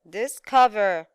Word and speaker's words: discover: last word discover discover discover yes very good we have the second syllable very good now let's